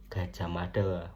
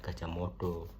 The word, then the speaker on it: Gajah Mada: pada bahasa-bahasa yang digunakan contohnya kertonegoro padahal aslinya Kertanegara gitu Gajah Mada Bukan gajah modo Gajah Mada terus ee kata dalam